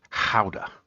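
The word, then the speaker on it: Gouda: And to me it seems like almost a in between between uh cheddar and guda uh properly pronounced howa uh from the Netherlands or Holland.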